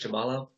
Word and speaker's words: Shabalov: too and you know shabala is that how you pronounce it shabalov yeah shabalov yeah he knew it from